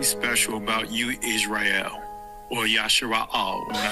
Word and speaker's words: Israel: There is something special about you, Israel, or Yashara'al. When I say Judah, Yahwadah. That is the ancient pronunciation of the word.